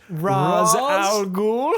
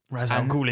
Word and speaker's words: Ra's al Ghul: Am I pronouncing this right? Ra's al Ghul?